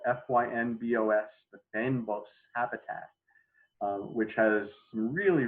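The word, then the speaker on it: fynbos: have a scene of what we call the fan box it's spelled f-y-n-b-o-s the pen boss habitat which has some really really unique plants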